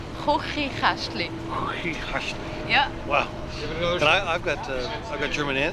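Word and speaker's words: Chuchichäschtli: say Kochikästli. Will you teach them a word? That's the difficult sound. Kochikästli.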